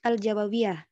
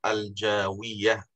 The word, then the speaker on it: Al-Jawiyah: Al-Ibris Lima Arifat Tafsir Al-Quran Al-Aziz Bilughah Al-Jawawiyah. Penulis adalah Kiai Haji Bisri Mustafa. Mbak, bacanya Al-Jawiyah, bukan Al-Jawawiyah. Oh, Al-Jawiyah, Pak ya? Ya, Al-Jawiyah, bukan Jawawiyah.